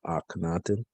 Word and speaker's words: Akhenaten: the wisdom of akhenaten akhenaten as i am and the reason his name is spelled like that because this breath sound uh if you were to drop this h it would be ack but uh his glorified